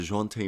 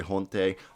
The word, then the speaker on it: Dejounte: we'll be talking about the jaunty murray i hope you said that correct that's what i've been told the jaunte murray is the correct way not to juante de jonte murray's correct way to say his name so i want to